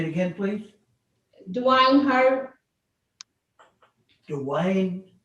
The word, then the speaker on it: Hurd: Dwayne Hurd. Dwayne Hare?